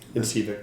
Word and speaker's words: Incivek: Incivek is am I pronouncing it correctly? Incivek? Incivek.